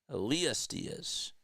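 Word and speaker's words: Elías Díaz: Elias Diaz pronunciation. Elas Diaz. Yes. Elias. Elias Diaz.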